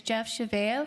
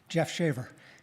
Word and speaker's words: Shaver: Our next speaker is Jeff Chavea, followed by Nick Kosla, followed by Peggy Griffin. Welcome, Jeff. Thank you. I've never heard my name pronounced that French-like. Jeff Shaver, real simple.